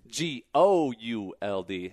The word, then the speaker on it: Gould: G-O-U-L-D. There you go. Not G-O-L-D, guys. But the U could be silent if you wanted to be. So it's Gould Brothers, yep.